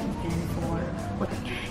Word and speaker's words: E-Kran 4: Cara bacanya gimana sih? Terus dia bilang itu bacanya Ikan for.